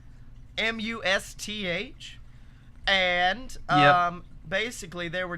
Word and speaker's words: musth: activity in male elephants I don't know how to pronounce it like muss muss mu sth and um basically they